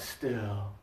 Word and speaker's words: still: Nick and that's okay focus on pushing your tongue down and breathing out still yeah you three sounds